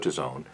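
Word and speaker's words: DAZN: I have nothing wrong or nothing bad to say about Dezone. D-A-Z-N is how they pronounce themselves.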